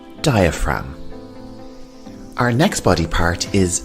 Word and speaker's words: diaphragm: the lungs we have the diaphragm and the g here is silent diaphragm our next body part